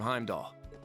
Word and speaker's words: Heimdallr: of those recap videos they say heimdallr because it has an r at the end but like very obviously that r is silent and every character in the game says heimdall so i don't know